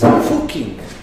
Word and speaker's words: Fucking: It's fucking. There is a village in Austria called Fucking, okay? And you pronounce it Fucking.